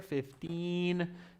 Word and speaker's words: fifteen: it's 50 pounds five zero fifty pounds the registration fee is fifty pounds fifteen there's a long e sound there fifteen and this is fifty fifty there's a d sound there fifty so 2050 okay